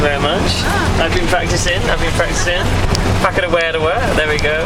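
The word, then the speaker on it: Whakarewarewa: After luging, we went to a place called Whakatawerta, which is Thank you very much. I've been practicing. Whakadawedawa, there we go. I think I pronounced it wrong the first time. It's Whakadawedawa, that's what it is.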